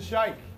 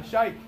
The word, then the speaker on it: sheikh: It's a sheikh, okay? Everyone say shai. Say ka. Say sheikh.